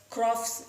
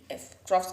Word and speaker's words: Pfropf: you all is about Crofts schizophrenia. PFROPF. All these are German terms, so it's quite difficult for us to pronounce. It's schizophrenia also to pronounce. It's not, it's not easy for us Indians.